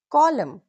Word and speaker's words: column: So remember, if N comes after M at the end, it's usually silent.